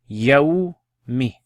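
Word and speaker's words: يوم: So pronounce it with me. Yawmi.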